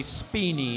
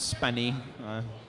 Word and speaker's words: Spiny: to the ready tables that'll be spiny not spinny spinny that's too easy oh